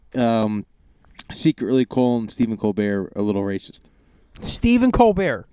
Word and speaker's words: Colbert: it the isn't it it's not Colbert it doesn't he say Colbert the late night show with Colt Stephen Colbert no it's Colbert that's how he pronounces it oh but anyway but